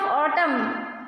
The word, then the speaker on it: autumn: So pronunciation of autumn, A-U-T-U-M-N. But here we won't pronounce N. We do not pronounce N.